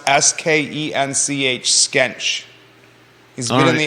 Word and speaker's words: Skench: like Ryo isn't Rio okay that says it's pronounced s-k-e-n-c-h skench he's been in the area for 60